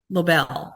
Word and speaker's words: Lobel: And today for our speaker, we have Leonard Lobel. Did I pronounce it right? Lobel.